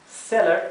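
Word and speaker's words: cellar: bien igual para seller celler que significa sótano celler celler con doble l hace que la e se pronuncie bien cortito seller si fuera una sola l sería seer verdad la palabra garage significa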